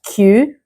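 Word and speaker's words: queue: 5 letters, but almost no sound. So did you say Wednesday, salmon, and Q?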